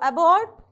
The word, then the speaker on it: abort: one is abort so abort a is a weak prefix so we have to place the stress mark on the second syllable okay so it will